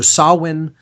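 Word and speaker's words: Samhain: tradition it's called uh saan okay so sawin it's that's spelled s m h a i n or Halloween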